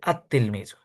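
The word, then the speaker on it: التلميذ: সময় লামটা উচ্চারিত হয়েছে, কিন্তু আত তিলমিজু এই জায়গায় লামটা উচ্চারণ হচ্ছে না।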